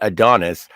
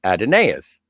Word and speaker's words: Adonais: obviously plays Captain Kirk he pronounces it Adonis but the actor who plays Apollo was very specific about it being pronounced adenaeus so yeah I did